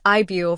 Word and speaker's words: Yves: in Tacoma this February solo artist Eve pronounced IB from the Korean spelling with Eve as an English equivalent is set to perform